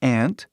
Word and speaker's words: aunt: Tem aunt, que é essa palavra aqui, e aí tem uma outra palavra que tem a mesma pronúncia, que é essa palavra aqui. Só que essa outra palavra, ant, que se pronuncia, né? Ant, significa formiga. Entendeu? É o mesmo som, né? A mesma pronúncia, só que a escrita é diferente, que é muito importante no inglês.